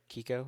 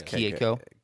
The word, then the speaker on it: Keiko: Kiko or is it Keiko? It's Keiko. Pretty sure it's Keiko.